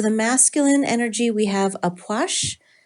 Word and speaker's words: Ah Puch: masculine energy we have aash wow that is not the way I would think that that's pronounced um the key word